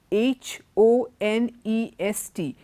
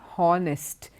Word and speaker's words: honest: how it is our H o-n-e s T is not harnessed it is honest the H is silent the same way honor